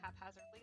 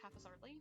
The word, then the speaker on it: haphazardly: i can't not say haphazardly that way so whenever i'm trying to have a normal conversation with somebody such as this i have to like remind myself that it's not pronounced half as hardly anyway uh see i'm